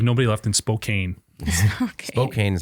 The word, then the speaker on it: Spokane: Spokane is how you say it.